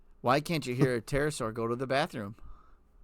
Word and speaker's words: pterosaur: Why can't you hear a pterosaur go to the bathroom? Because the P is silent.